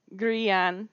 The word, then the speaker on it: grian: So, the first one we've got, I'm going to say grian because that is the regular Scottish Gaelic word and that means sun.